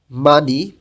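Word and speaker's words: 많이: মানি বেশি, হিউতের পরে যখন ইয়ং আসে তখন হিউতটা ইয়ংয়ের স্থানে যাবে না, এবং হিউতের পাশে নিউন আছে, নিয়ম অনুযায়ী নিউনটা ইয়ংয়ের স্থানে গিয়ে উচ্চারণ হবে।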